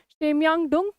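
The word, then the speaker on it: Chemayungdung: तो this is शेमयांगडुंग glacier है, south western जैसे भी प्रोनाउंस करते हैं, ठीक है, तिब्बत में जैसे प्रोनाउंस करते हैं इसको, शेमयांगडुंग ग्लेशियर, ठीक है, इन साउथ वेस्टर्न तिब्बत में।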